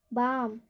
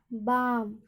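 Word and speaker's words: balm: बी ए एल एम, बाम। तो यहाँ पर एल एम है अंत में, तो एल एम का उच्चारण में एल का उच्चारण नहीं होगा, बाम।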